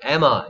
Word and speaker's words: Emma: 엠마 안 되고 에마 입니다.